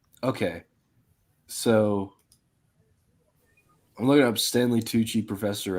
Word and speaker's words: Stanley Tucci: like yep the dude from Kingsmen or like Stanley Tucci is that how you is that how you pronounced it yeah then um yeah yeah um